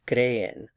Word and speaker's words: creen: Ustedes creen. Stress on the cre.